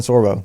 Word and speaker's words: Sorbo: Wait, does his name rhyme with Rambo? What's his name? Uh Kevin Sorbo. Kevin say it rhymes with Say Sorbo. Rambo.